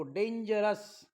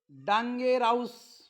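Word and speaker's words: dangerous: तेव्हा ओ यू एस चा उच्चार स होतो काय होतो स पुन्हा वाचून दाखवतो डेंजरस famous curious enormous जनरस असं वाचू नका डांगेर हाऊस फॅम हाऊस Curie हाऊस इनर्माऊस general असं नाही आपल्याला जर प्रोनन्सिएशन माहिती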